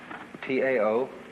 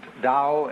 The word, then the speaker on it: Tao: T AO pronounced dao in the Mandarin dialect, tao in the Shanghai dialect, toe in the Cantonese dialect.